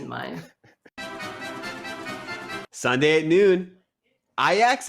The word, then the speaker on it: Ajax: mind sunday at noon ayax and vitesse ix that is how people who know soccer pronounced ajax but iax is a